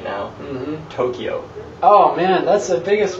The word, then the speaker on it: Tokyo: Okay, so Tokyo is actually Tokyo. So the T-O is actually kind of long, and it's not Kyo, it's Kyo. It's like a blended sound.